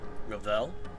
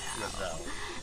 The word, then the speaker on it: Ravel: I feared you forgot poor, lonely Ravel. That's how you pronounce Ravel? I thought it was Ravel.